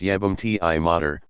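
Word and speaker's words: jebem ti mater: Vero jebam T mod jebam t T mod pronounced yam T Mo meaning I'll [ __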